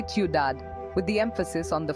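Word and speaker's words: ciudad: example is Tad City you don't pronounce the d at the end you say udad with the emphasis on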